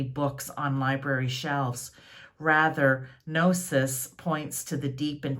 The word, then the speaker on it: Gnosis: I don't even know how to pronounce that. I believe it may be Gnosis, but I'm not sure. It's Gnosis.